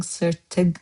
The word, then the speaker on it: sırtıq: See how I'm pronouncing sırtıq? I'm not saying that. I'm saying sırtıq, sırtıq, sırtıq. Is like r, h. You can go between those.